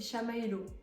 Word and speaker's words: Chamaelo: Juste pour que vous sachiez comment on prononce mon pseudo, c'est Chamaelo. Voilà, très facile. Chamalo, sauf qu'il y a un E en plus pour Maë.